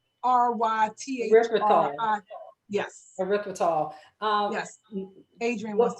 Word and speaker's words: erythritol: Do all monk fruit sweetener have, and I'm gonna spell it to avoid saying it wrong, erythritol.